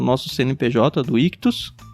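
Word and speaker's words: Ichthys: Ictus se escreve i ch th.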